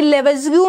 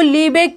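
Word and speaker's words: Lebesgue: दोनों ट्रू बातें हैं, बट यहाँ पे जो हमारी हैबिट है वो हमारी लेवेज़ग्यू की है। ठीक है, लीबेक भी ठीक है, कोई प्रॉब्लम नहीं है, हमें पता है।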